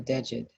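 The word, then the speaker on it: djed: Because this particular tool that Ptah is holding is called a dejed. I will spell that for you.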